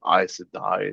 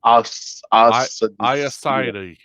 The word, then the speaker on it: Aes Sedai: It's so weird that, like, um I I learned all the pronunciations from the audiobook. Me too. Like I Yeah. wouldn't I wouldn't have known Aes Sedai is how you say it.